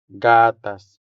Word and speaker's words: gatas: Gatas. The stress here falls on the first syllable, making the first a sound longer than the second one. So, we say gatas.